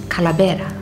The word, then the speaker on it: Kalabera: we find ourselves at Cala betta which is the pronunciation in tomorrow but that particular word comes from the Spanish Khalid era which means sculpt now what is the